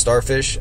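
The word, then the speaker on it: sdorfehs: so it's it's kind of weird but it's pronounced starfish um it's kind of i guess rat poison-esque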